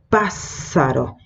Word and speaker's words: pássaro: Pássaro. Y en la pronunciación esa S va a ser más prolongada, ¿sí?